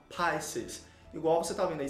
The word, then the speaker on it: Pisces: Gente, a pronúncia correta então é Pisces. Observe que esse izinho aí, ele pronuncia com som de A, Pisces.